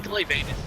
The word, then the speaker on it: Glavenus: I mean, Glavenus is definitely the correct pronunciation.